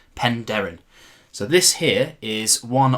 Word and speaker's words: Penderyn: Wales to check out some pen Darren whiskey that is how you say it pen Darren so this here is